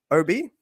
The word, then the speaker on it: Obey: And I am so sorry I've not pronounced your name correctly the entire time that I've been in this circle. So, Obi, we'll get it Yes.